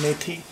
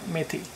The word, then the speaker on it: methi: twoo and I'm getting this green vegetable called mey it's spelled as m e t h i mey so what is the first thing you add